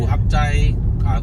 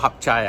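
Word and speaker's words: Hat Yai: Yeah, actually pronounced, I don't think it's called Hatyai. I think it's called Hatyai. Yeah, it's H-A, but it's H-A-T, eh. Yeah, Hatyai.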